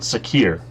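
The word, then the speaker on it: Sakhir: Sakir. I said it wrong last episode. Sakir.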